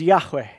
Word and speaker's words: Yahweh: gave to Moses and we pronounced it probably closest in Hebrew as Yahweh and so Yahweh or